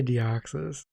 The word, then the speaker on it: Deoxys: rayquaza or d northern uh i'm gonna say deoxys is that how you say his name yeah